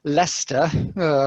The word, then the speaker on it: Leicester: the Rockies but uh living in it's actually pronounced Leicester thank you which is this yeah the English